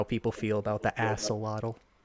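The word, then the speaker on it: axolotl: They They know how people feel about the aselottle. Believe there's an X in that. No, aselottle. I'm not He said it right. We we we've seen it. There there there's not there's no X.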